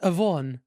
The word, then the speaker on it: Yvonne: Everyone's like, "Why are they pronouncing the Y?" What? So it's just And I Von? agree. It's just Yvonne.